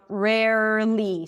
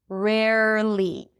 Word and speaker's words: rarely: Rarely, same thing. Here we also have an R at the end. Rare, so round your lips for the R. Rare, push the tongue forward for the li. Rarely, nearly, barely.